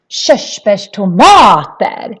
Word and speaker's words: körsbärstomater: And then when we have RS like we have here, that is also a sh sound.